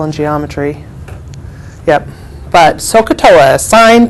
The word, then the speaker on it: sin: this represents sine so when you see this say sine don't say sin okay when you see